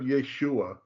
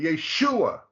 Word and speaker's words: Yeshua: how to chant and the result Mark is always put over the syllable that is accented so if you go to the top don't move it but first Chronicles 24 11. okay you'll see that above the shin the third letter is the mark to show how it's sung yeah that little curvy guy right there right exactly but it's over the shoe part but Yeshua sorry end